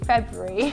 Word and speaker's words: February: You sort of put it February, but you've got to pronounce that R sound after the B.